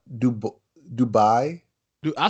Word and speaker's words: Dubai: on megabill say good words he going to Dubois not do book Dubai do I say - I said you say